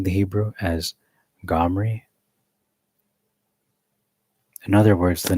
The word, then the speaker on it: Omri: Omri, pronounced as Gomri.